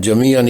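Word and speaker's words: جَمِيعًا: کے ہجے کرتے ہیں۔ تنوین سمیت پہلے لفظ کا تلفظ جمیعاً ہے، آخری نون ساکن کی آواز واضح ہے، عین پر ایک زبر نے دو کی جگہ لے لی ہے۔ اس کے بعد الف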